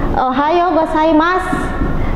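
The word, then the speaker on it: おはようございます: bahasa Jepangnya disebut dengan ohayou gozaimasu, seperti salam sensei tadi ya. Di sini O dan U, yaitu huruf vokal yang saling berjejer, itu dibaca panjang.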